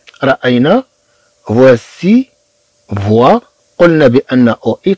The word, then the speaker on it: voici: ثم عندنا سي إي تنطق سي، voici voici. طبعا عندنا هاد سي تجي من بعد منا إي، إذن غتنطق بحال إس. طبعا غنشوف بأن السي في حالات أخرى أن تنطق ك ك، تنطق كحرف ك. مثلا كلمة ماروك، المغرب. مثلا كلمة ماروك، إذا طبعا هاد السي تنطق ككا في هاد الحالة. أما في الحالة التي عندنا هنا فهي تنطق كأس، لأن جاءت بعد إي، لأن جاءت متبوعة بإي.